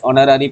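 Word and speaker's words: honorary: বসে চলো ইলেভেন যেটা আছে this is dash অনারি post তাহলে এখানেও দেখো এইচ এর প্রোনাউন্সিয়েশন কেমন হচ্ছে না অ এর মত ভাবেল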